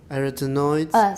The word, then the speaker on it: arytenoid: Arytenoid. Stress is on the second syllable.